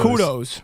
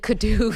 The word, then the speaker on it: Kudos: talking about Joe uh he does pronounce a word differently than I've ever heard anyone else pronounce it before when you give someone props a word that starts with a K you give them Kudos Kudos he calls it kados yeah so does J